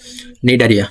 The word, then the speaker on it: নিডারিয়া: নিডারিয়ার সামনে কিন্তু সি আছে, ঠিক আছে, কিন্তু সিটা সাইলেন্ট থাকে, এই সিটা সাইলেন্ট থাকে। নিডারিয়া, সি বাদ দিয়ে উচ্চারণ করে দেখো, নিডারিয়া।